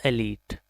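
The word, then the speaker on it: elite: एलीट, इसको हम एलाइट पढ़ देते हैं कभी कभी, but right pronunciation is एलीट।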